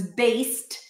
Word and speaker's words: based: His best movie was based, even though it's spelled with a D, it's pronounced as a T, okay? I don't know if you know this, but the ED suffix is often pronounced as a T when it appears after a voiceless consonant, like here, after the S, based.